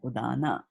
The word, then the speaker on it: udana: these words so correctly, because she read it as Sanskrit is read, right? And in Sanskrit, what happens in Sanskrit? Pran, Prana, pan. apana, vyana, samana, and udana.